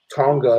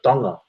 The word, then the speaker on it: Tonga: uh when people say Tonga they say it with a t but it's actually it's actually pronounced it's actually uh it's spelled with a t but it's pronounced with a d so a dunga so when you see